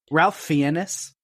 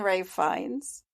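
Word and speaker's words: Ralph Fiennes: finds is perfectly creepy Ralph fianus I'll call him that no it's my turn to have a bad pronunciation it's right fines it's always been Ray fines you sure okay yes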